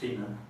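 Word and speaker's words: finde: find in danish it's written f-i-n-d-e but it's pronounced finna not fida anymore it happened in catalan catalan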